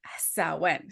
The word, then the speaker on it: Samhain: tease you but it it's actually spelled like Sam Hayne it's weird it is so it's spell it said so different than what it looks like so nobody can blame